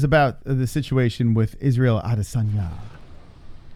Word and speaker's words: Adesanya: So, all right, let's see what the chat says about the situation with Israel Adesanya. Adesanya.